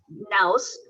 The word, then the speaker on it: Nouse: Nouse is one that is based out of Canada, and Nouse rhymes with, but it's using your nose as the mouse.